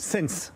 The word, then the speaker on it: Ssence: C'est comme ça qu'on prononce? Sense, oui, Sense.